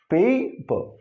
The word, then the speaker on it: paper: This is paper. So there's a slight difference in this. Here pure vowel. Here it is a diphthong.